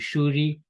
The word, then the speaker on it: Suri: have a town which in Bengal is called shuri but it's often written as Suri because that's how they say it in Indi and pasim